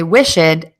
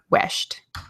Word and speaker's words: wished: and they will say wish it instead of wished here we go I've